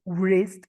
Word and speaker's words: wrist: La primera W en wrist watches es muda, no se pronuncia. No es wrist, es wrist, como si fuese la R ese más.